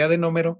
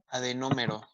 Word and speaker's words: adenómero: ya lo saben, que adenómero y unidad secretora es lo mismo. Adenómero. Adenómero, así como se escucha tal cual, adenómero. A-D-E-N-O-M-E-R-O, con acento en la primera O, adenómero.